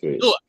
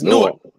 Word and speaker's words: Newark: That's like how the Jersey niggas say Newark. It's Newark. Oh, Newark.